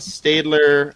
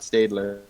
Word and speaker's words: Stadler: It's pronounced Stadler, not Stadler.